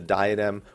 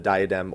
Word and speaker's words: diadem: Obviously, the diadem, or the diadem as it's actually pronounced, Proto Ultima, those are cool, but those aren't going to tide me over.